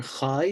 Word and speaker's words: Chai: You have the letter Chai, which sounds like a Kha, like a KH sound, spelled Chai, alpha, iota, Chai.